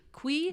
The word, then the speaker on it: kuy: animal in his snare the kuy which is it KY what how do you say it qu que that's how they pronounce it in the audio book okay well I might call it the Koy from now on but I will try try to do Que okay so the queen